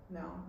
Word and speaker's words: Nell: Nell. It rhymes with Belle, but everyone always says it wrong.